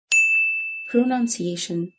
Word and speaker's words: pronunciation: اوكي، number 3 pronunciation. pronunciation. none مش noun. pronunciation.